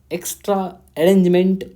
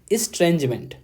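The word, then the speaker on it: estrangement: The visit ends the एक्स्ट्रा अरेंजमेंट ऑफ the post 1998 India nuclear weapon test. देखो यहाँ पे मैंने एक गलत प्रोनाउंसिएशन किया, इसके लिए सॉरी। इसे बोलते हैं इस्ट्रेंजमेंट, मतलब जो मन में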